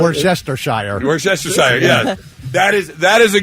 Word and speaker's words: Worcestershire: Oh, Worcestershire. Oh, yeah. You got it. Yeah, you got it. I just stick with what I do. Wash your sister sauce.